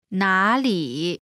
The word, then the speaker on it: 哪里: 是 Together 你是 You are 你是 Next is 哪里 Where 哪里 Pronunciation note. When there are two third tones in a row, the first one changes to the second tone.